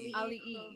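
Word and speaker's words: Auliʻi: Ali.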